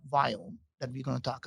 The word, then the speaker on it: Viome: So when I started this company called Viome that we're going to talk about, by the way, this is really interesting.